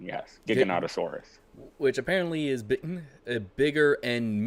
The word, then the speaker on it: Giganotosaurus: We have I thought it was called a Gigantosaurus, but they call it Giganotosaurus. That is the correct pronunciation, yes. Giganotosaurus.